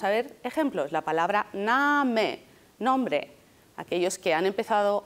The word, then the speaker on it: Name: La palabra Name, nombre. Aquellos que han empezado a aprender inglés se comen esta E. No se coman la E. Name.